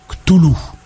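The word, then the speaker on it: Cthulhu: Ch'tulu, lui-même, enfant de cœur, note pour toi, on prononce Ch'tulu.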